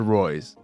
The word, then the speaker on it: Reus: But I Googled it, and it said Reus.